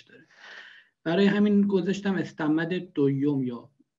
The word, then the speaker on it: دویوم: برای همین گذاشتم استمد دویوم، یا تلفظ دقیقش میشه دویوم با اوی املات، ولی خب پس ما ترکیه.